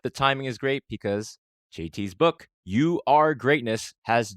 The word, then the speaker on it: Tsui: episode of MIM time here we have today JT s is that how I pronounce it that is how you pronounce it